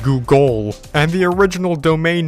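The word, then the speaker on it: Googol: It was still pronounced as Google, but it was spelled as if it was named Google.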